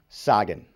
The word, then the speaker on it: Cagann: Usually it's pronounced Kagan. And how do you officially say it? Sagan.